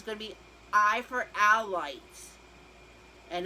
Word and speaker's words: Howlite: to be I for all lights and it sounds like owl light but it's spelled with a nine so stay tuned and